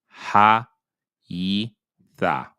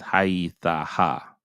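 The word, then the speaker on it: היתה: So you're not going to pronounce this hey. It's going to be called a kamat's hey, and therefore you're not going to pronounce it. It's going to be silent. It's going to be supporting this kamat's here. Ha, yi, tha. That's it. Not ha, yi, tha, ha.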